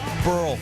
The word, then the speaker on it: Burrell: Pat Burrell in the first. We're tied at 1. Burrell rhymes with Pearl, and he hits the Pearl out.